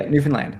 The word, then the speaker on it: Newfoundland: ago, and they said if you say "understand Newfoundland," is that close, or what's the good way to remember how to say it? That's it. That's how you say it. That's it. Yeah, Newfoundland. Like understand Newfoundland.